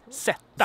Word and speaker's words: sätta: But we also have sätta, which means zeta. To sit. Down or to put or set something. Sätta.